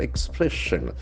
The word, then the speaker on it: expression: The accent for second syllable, expression.